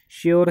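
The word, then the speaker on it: sure: श्योर है, श्योर रहेगा, रे प्रनाउंस नहीं करेंगे।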